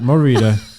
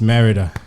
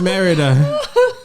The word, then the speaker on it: Merida: pause i pause and remember it's not morita it's merida you know